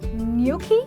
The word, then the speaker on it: gnocchi: and then we have gnocchi when in the "G" is silent and there is an invisible "y" in the pronunciation there is croissant ok